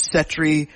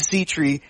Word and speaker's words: Sea Tree: of the company because there's been some debate of whether it was Settree, Sea Tree. It is Sea Tree.